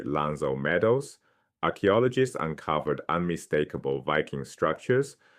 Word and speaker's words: L'Anse aux Meadows: At a site called L'Anse aux Meadows in Newfoundland pronounced roughly 'Lanz oh Meadows' archaeologists uncovered unmistakable Viking structures.